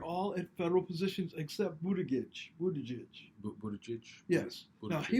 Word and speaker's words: Buttigieg: That's how you pronounce it, right? Buttigieg?